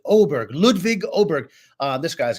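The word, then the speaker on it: Åberg: uh it's it's pronounced oberg that little those two dots on top of the a apparently in Swedish mean you pronounce it oberg ludvig oberg uh this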